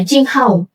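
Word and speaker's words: 青蒿: Dikenal dalam pengobatan tradisional Tiongkok, dikenal dengan istilah apa bacanya? Qinghao.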